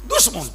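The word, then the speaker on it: دشمن: 4 অক্ষরের সম্বলিত উচ্চারণ হলো, বলেন বলেন বলেন, দুশমন।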